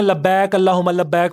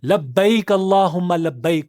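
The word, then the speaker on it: لبيك اللهم لبيك: लोग ये ना लबक अल्लाह हुमा लब्बक पढ़ रहे होते हैं।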